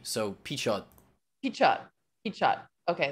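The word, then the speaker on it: Pichot: most controversial person here alan how do you pronounce his last name again so i always said pete show but uh i've started saying the t so p chad heat shot heat shot okay there we go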